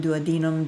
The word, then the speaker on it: duodenum: stomach contents into the duodenum and you can also see duodenum either either way duodenum do a denim do a denim there are many ways to pronounce it so you can see